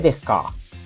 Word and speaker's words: Descartes: Baruch Spinoza es de Holanda y René Descartes de Francia. Entonces debería decirle René Descartes.